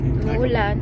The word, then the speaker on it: umuulan: Umuulan.